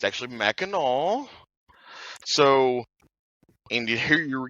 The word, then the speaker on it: Mackinac: And so it's actually Mackinac.